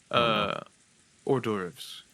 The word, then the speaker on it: hors d'oeuvres: Hors d'oeuvres. Hors d'oeuvres? Yes. Hors d'oeuvres. I don't know. Yeah, it's one of those fucked up French words where you only pronounce like 5 letters in it.